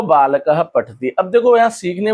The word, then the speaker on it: बालकः: तो विसर्ग बोलने की वजह से बालकः पठति, इसका उच्चारण हम कैसे करते हैं? ह। इसका उच्चारण कैसे करेंगे? ह।